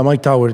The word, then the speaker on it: Mike Towers: How do you pronounce his name? Yeah, Mike Towers.